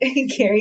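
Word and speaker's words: Gerry: love love Jerry Gary Gary it's spelled Jerry right it's spelled Jerry but it's Gary Gary I love him so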